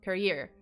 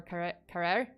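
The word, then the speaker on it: Carrière: the Canadian tourist Laurent Carrier. Or Carrere. I'm sorry if I mispronounced it. I keep like pronouncing it as Carrier, but it's Carrere, I think.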